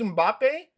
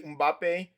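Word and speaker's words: Mbappé: His name he was Yeah, his name is Mbappe, bro, Mbappe. bro. I don't know if I I was pronounce it right, but I know his name is literally Mbappe.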